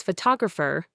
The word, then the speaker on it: photographer: Listen to photograph versus photographer. In photograph, the first syllable is stressed. In photographer, the second syllable, to, becomes the schwa.